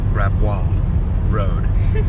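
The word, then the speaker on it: Gravois Road: or perhaps grab W I think yeah I think it's grab W ah my beautiful wife she knows the pronunciations far better than I grab road which would make sense cuz it's a very French area up in here all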